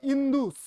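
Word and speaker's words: Indus: গ্রিকরা Macedonian গ্রিকরা Alexander তারা আবার সিন্ধুকে বলল ইন্দু সকে ই উচ্চারণ করল ইন্দু একজন জন উচ্চারণ করল সিন্ধুকে হিন্দু আরেকজন উচ্চারণ করল ইন্দু ইন্দু থেকে হল ইন্দুস আই এনডি ইউ S actual উচ্চারণটা হচ্ছে কিন্তু ইন্দুস সেখান থেকে ইন্দই সেখান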